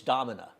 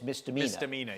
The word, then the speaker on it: Mdina: it was funny but oh miss miss Domina and it's mdina and she and and